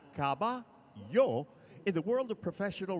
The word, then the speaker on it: caballo: Please download the Telemundo Texas app and now, for today's word, caballo, meaning horse, pronounced caba-yo.